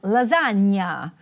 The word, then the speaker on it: lasagna: The first item you might have noticed was "gn": This is pronounced like "canyon." We saw it in SARDEGNA. And in EMILIA ROMAGNA. You know it from "lasagna," for which the Emilia-Romagna